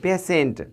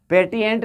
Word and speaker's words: patient: आया है, आई ई, पेशेंट, पेटिएंट नहीं, आप उसको हमने कि PATIENT, पेटिएंट, तो पेटिएंट आपका गलत होगा, सही क्या हो जाएगा, पेशेंट, श का उच्चारण हो जाएगा। ठीक है, पेशेंट तालाब श के रूप में होता है, इसका अर्थ है रोगी।